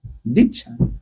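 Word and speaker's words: दीक्षा: Di means there are two syllables there. Two letters. Di and Cha.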